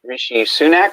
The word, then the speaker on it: Rishi Sunak: His name is Rishi Sunak, I think is how you pronounce it.